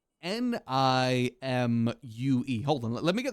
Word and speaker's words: Nimue: Nimue. I believe that is how it's pronounced, too. Oh, let me double check. I actually have a Google page open, so I remember how to pronounce it. Yeah, Nimue, that's it. Also, Nimue, Nimue, stuff like that. There's different ways to pronounce her name. I like Nimue because that's more fun to say.